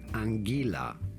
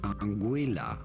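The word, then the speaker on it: Anguilla: name of this island the most common pronunciation in English is angila angila however the locals call it anguila anguila or angila here are more videos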